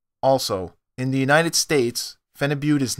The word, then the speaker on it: Phenibut: Phenibut. This drug is pronounced Phenibut.